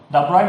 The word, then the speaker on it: Broglie: The question given is, calculate the wavelength of Broglie. The actual pronunciation is Broglie matter wave associated with.